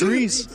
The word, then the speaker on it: Rise: I thought you were going to say that Rise wasn't Rise. He's Rize. Oh, yeah. I was like, oh, please. It's Reese.